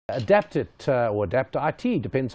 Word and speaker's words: Adapt IT: How do you pronounce the company? Adapt IT, David.